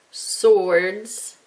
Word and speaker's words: swords: comma crossbows comma swords which is weird it's a swa silent w swords and i'm gonna make